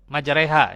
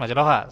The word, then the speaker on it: majreha: Allah Bismillahi majha ya imalah ya bacanya majreha n Sanes majroha sanesnya majreha imalah ini ya Naiklah Dengan menyebut